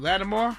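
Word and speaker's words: Latimer: even know how to say his last name, Lattimore? Yeah, Lewis Lattimore.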